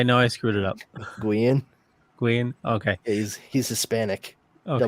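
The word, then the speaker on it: Guillén: Guian. Okay. Yeah, he's Hispanic. Okay. Double L is it's not pronounced O.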